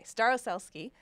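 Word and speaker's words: Starosielski: I really hope I'm pronouncing her name right. I practice. Staroselsky? Yeah. Okay, Staroselsky.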